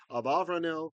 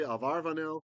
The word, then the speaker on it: Abarbanel: Some people think it was Abrael, some say Avaranel, some say ael. And I'm just I settled I decided a long time ago to settle with Abarbanel.